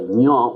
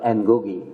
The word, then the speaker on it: Ngũgĩ: You have to pronounce his name in a difficult way. Ngũgĩ with Bangla letter Ngũgĩ. So, and represents Ngũgĩ. In English we mispronounce called Ngugi.